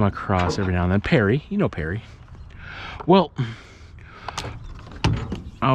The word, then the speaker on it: Paris: name is Perry but you pronounce it a little bit wrong it's Perry p-a-r-i-s and this is true